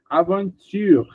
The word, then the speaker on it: aventure: Aventure, porque nem o e nem o s estão pronunciados, tá? Acabamos no R.